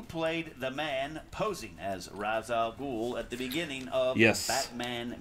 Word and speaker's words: Ra's al Ghul: Cheeseburgers at 4 Yeah, Ra's al Ghul. If you grew up on the cartoon, it's Ra's al Ghul. They mispronounced it.